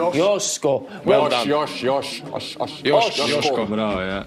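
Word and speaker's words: Joško: Correct pronunciation is? Josko. Josko.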